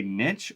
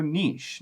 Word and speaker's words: niche: it has two pronunciations you could say Niche or Niche now I actually am in favor of saying Niche just because it comes from French Latin originally but it's a CH so ideally we should say Niche